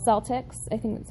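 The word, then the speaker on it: Celtx: So I read it, and I actually went to a program called Celtics. I think that's how you say it. Yeah, it's Celtics.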